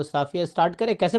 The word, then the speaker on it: सफिया: तो कैसे नाम कैसे प्रोनाउंसिएशन करते हैं आप? सफिया । सफिया या साफिया?